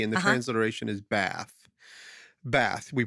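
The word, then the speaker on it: בת: it's h132 three and the transation is Bath bath we pronounce it bath that's the word and it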